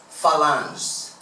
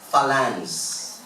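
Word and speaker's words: phalanx: Ang tawag po dito is falance medress lang falans. Tin ko sa dictionary. Ang hirap namang i kwan nito i-pronounce falan p h a l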